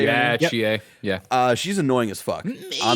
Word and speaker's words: Chie: Yeah, Chie.